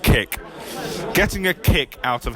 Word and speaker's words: CIC: It's spelled C-I-C in capital letters, so I think it's meant to be pronounced kick.